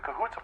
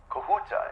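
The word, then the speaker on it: Kahuta: It's going to the Cahoota plants. Okay. Kohuta. Is that uh the correct pronunciation? Am I saying that right? Yes. Okay, great.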